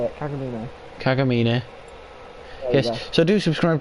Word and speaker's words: Kagamine: However you spell it. Let me hear you say it. Kagamine.